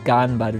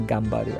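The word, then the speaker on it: 頑張る: It's Ganbaru, not Gambaru.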